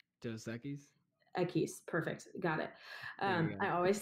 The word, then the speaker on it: Equis: Equis.